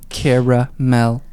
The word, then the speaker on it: caramel: i see an extra a in there between the r a and m it's cara mel thunder don't look at